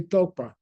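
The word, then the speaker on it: རྟོག་པ: Yeah, so the pronunciation is say Tokpa. Tokpa. It could be spelled RTOGS and it could be spelled RTOG. RTOGS means to realize something that you never realized before. RTOG means to think something which is mistaken. They are completely the opposite. They're pronounced the same.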